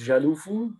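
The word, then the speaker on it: Carrefour: a strategist at a company called kaufu a french supermarket in china which hilariously they pronounce jalufu there and my wife is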